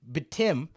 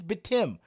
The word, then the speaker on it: Batum: Batum is how you pronounce it. It is official. We all know how to pronounce it now. It is Batum.